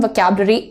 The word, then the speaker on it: vocabulary: vocab, तुम्हारा जो emphasis है वो इस पार्ट पर पड़ेगा, इस पर नहीं.